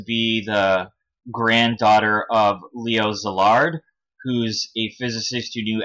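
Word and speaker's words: Szilard: she claims to be the granddaughter of Leo zillard who's a physicist who knew Albert Einstein and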